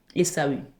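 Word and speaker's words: Ésaü: Esaou je sais plus comment ça se prononce. Esau. Esau. Essau.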